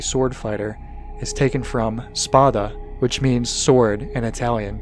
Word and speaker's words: spada: Dante's father, Sparta, touted as a legendary sword fighter, is taken from spada, which means sword in Italian. It's hard for Americans to pronounce, so I put an R in to make it Sparta.